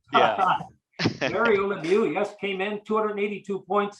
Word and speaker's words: Lemieux: his last name rhymes with Schmilu. Yeah. Mario Lemieux, yes, came in 282